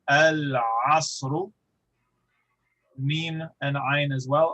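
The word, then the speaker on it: العصر: Ayn is pronounced from the throat, and so it is far away. We go al-asru.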